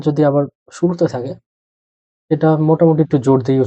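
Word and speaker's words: Mutter: প্রথমটা হলো মোটা, ওটা রাডিও।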